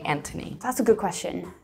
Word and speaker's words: Anthony: that's a good question so technically they're the same name one is I believe they're the same name pronounced slightly different but if you PR present somebody with the th they'll say I'm anony and then just get lazy with it and drop the H but if you really